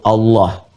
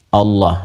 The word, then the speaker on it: Allah: L ada yang menuliskan A lagi kemudian H dibacanya tetap mengembalikan kepada diksi aslinya, tulisan aslinya dalam bahasa Arab ya itu Allah. Ingat ya Allah.